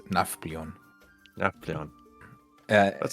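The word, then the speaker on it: Nafplio: So, it's Naflon.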